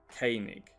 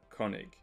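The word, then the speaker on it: König: lao at the top the two little dots over the o make it a instead of o so it's koenig instead of konig yeah anyone who knows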